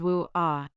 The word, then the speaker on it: UA: Starting July 21, 2023, the chime has been changed to Ai Iko, composed by Wu-Ah, a Japanese female singer living in Canada. It is written as Ua but pronounced as Wu-Ah.